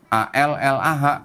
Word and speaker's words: Allah: A-L-L-A-H tulisannya. L-nya 2. Cuman nggak ada tasdidnya, Bu. Jadi bacanya tetap Allah gitu.